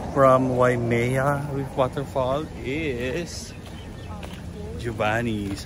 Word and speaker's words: Giovanni's: Okay guys, next stop from Waimea with waterfall is Giovanni's.